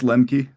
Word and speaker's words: Lemke: Uh, it's Lemi. Lem Kendrick Lmi.